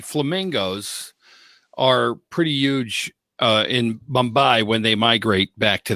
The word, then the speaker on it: Mumbai: Mumbai?